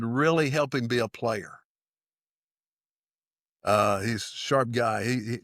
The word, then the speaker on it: Plair: His last name is Player, but it's spelled Plair.